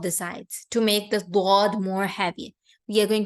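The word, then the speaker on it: ض: You try to touch the molars from the back of your tongue and then pronounce the letter dod. When you do so, the dod becomes more heavier.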